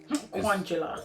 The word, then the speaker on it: Kwanjula: Kwanjula.